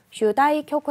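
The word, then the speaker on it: 主題曲: 아이 쿄코 주제 고 주제곡을 쥬다이 쿄 그 라고 읽으시면 됩니다 테마 켜 거 뭐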